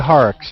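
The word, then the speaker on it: Horrocks: who actually discovered that the transit even existed horox is that how you pronounce his name that's right Jeremiah horox yes yes horox in 1639 I mean what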